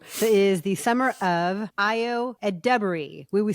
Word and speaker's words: Ayo Edebiri: And it is indeed the summer of not of Ayo Edebiri, but of Ayo Edebiri. Accent on the second syllable.